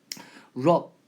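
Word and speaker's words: rub: 얘는 발음 기호가 럽이라고 읽으셔야 돼요. 그래서 랍은 강탈하다고 해서 robbery 이러면 강도라는 뜻이 있고요. 럽 문지를 따죠.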